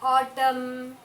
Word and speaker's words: autumn: What is silent in the autumn? Very good. A-U-T-U-M-N. Autumn. N is silent. The letter N is silent. We are not pronouncing the letter N sound.